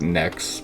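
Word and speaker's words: knex: down say npx connects it's actually pronounced next but kind of like saying connects sometimes so mpx next migrate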